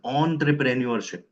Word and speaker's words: entrepreneurship: So in French they pronounce this e N as on. Hence I'm pronouncing this as entrepreneurship.